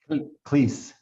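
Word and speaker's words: Klis: Cleese. Please, how do you spell that?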